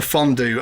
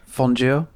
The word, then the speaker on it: fondue: Here, you have fondue that's supposed to rhyme with stew and crew, and it does that job perfectly fine. Why do you deliberately mispronounce it fondue so that it doesn't rhyme with either of those two words?